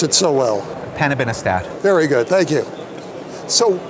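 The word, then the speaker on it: panobinostat: new agents for multiple myeloma this one you pronounce it so well hanabinostat very good thank you so where where does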